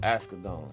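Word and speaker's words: Asghedom: Askadon.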